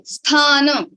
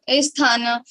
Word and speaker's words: sthana: You have to say sthana, not asthana. So what you have to do is like before saying thana, you have to say this kind of sound you can produce, and then you can add thana, sthana, and like that.